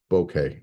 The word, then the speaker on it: bokeh: That's the correct pronunciation of that word is bokeh, not bokeh. Boca is a city in Florida. Bokeh is a quality of blur.